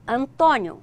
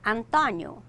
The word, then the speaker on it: Antônio: um exemplo por exemplo nós falamos eh Antônio Portugal fala Antonio eles vão continuar com